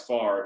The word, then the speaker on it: Favre: and that was before we knew how to pronounce far even though it was r v and it just doesn't sound right but nothing about brett